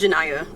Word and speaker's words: Janaiya: My name is Janaiya. Yes. She doesn't know how to pronounce it.